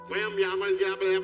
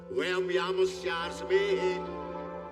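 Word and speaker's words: वयं स्याम: वयम यामल ये नहीं है, वयम यामस्यास्मे, ये है सही उच्चारण।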